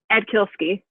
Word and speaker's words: Atkielski: try you want to say it for me ed kielski akilski see i would have butchered it so i'm glad you're not the